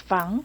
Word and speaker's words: Fang: Okay, hello, this is Fang. Okay, Fang. We would spell that F-A-N-G, but you actually go by what we would say, right?